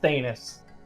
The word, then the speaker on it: Thanos: It's pronounced Thanos.